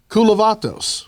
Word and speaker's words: Kulavatos: here earlier that's true uh kavatos that's his name I'm saying it right that's correct so we rehearsed this so much kulat uh will be with